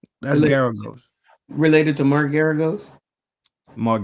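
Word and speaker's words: Geragos: How you pronounce it? Related to That's Mark Garagos. Garagos. That's Garagos.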